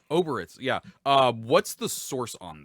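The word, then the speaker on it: Obyrith: Is it Oribits? How do you say the other demon lord things? Oberith.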